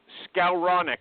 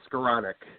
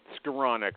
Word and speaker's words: Skowronek: His name is Scaronic. I think last time you were here you complimented me that I got the pronunciation right. Do I have that right? Close. It's scironic. Skironic.